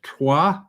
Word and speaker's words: Troyes: And he says, this shroud has shown up in our district because Léry is part of the district of Troyes. Americans pronounce it Troy.